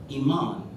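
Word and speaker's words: imán: am a n and I am a n is pronounced in Spanish Iman and it means magnet of course I hid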